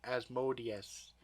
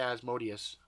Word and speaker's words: Asmodeus: Asmodeus. Asmodeus. Yeah, it could be. I used to say Asmodeus, so I know it sounds like odious, malodious.